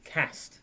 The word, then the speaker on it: Cast: That was Guiding Star by Cast, as I've been told to pronounce it. As in Bath. As in Bath and glass and grass.